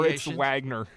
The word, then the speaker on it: Moritz Wagner: The W is pronounced more like a V.